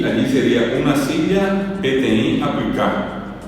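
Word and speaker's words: peteĩ: Y PTI se escribe así como se escucha, solamente la i final es nasal, solamente hay una nasalidad. No hayó, no hay otros acentos. Es p e t e i nasal ti y silla es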